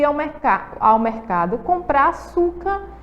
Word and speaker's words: açúcar: vamos lá vamos observar a sílaba tônica de açúcar açúcar então aí ó osso certo ele tá ali acentuado porque ela é uma paroxítona terminada aí na letrinha R vocês lembram a e